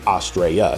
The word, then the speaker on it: Astraea: So I've heard it pronounced Astraea and then Astraea. So I'm gonna go with Astraea because that's what I've always called it.